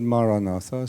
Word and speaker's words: Maranatha: you choose the word Maranatha say it as four syllables of equal length M ra Mar I'd